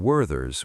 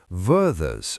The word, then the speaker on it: Werther's: I pronounce the th in Werther's with a th sound. But did you notice that Danny used a v instead? Werther's original. So this is very common in Cockney and some other British accents.